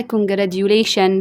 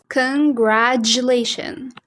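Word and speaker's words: congratulations: غلط بتتقال ازاي بقى اول حاجه ناس كتيره بتقولها كونجراديوليشن كونجراتشوليشن معاررفش بتقولها ازاي بس اسمع كده النطق الصح كونجراشن كجراشن بص في النص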